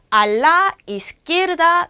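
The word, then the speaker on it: a la izquierda: 라가 아니라 LA가 붙었죠. 앞에다가 받침을 한 번 더 만들어줘요. 알라. 자, 요거 이스키에르다. 이스키에르다. 발음 되시겠어요? 알라 이스키에르다 네.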